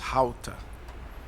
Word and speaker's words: Gouda: She taught me that in Dutch, Gouda is actually pronounced "How-ta".